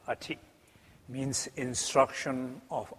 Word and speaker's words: A-khrid: It's not the ati, it's the ati. Means instruction of a. Het is de A-khrid en niet de A-ti, zoals soms ook wel wordt uitgesproken.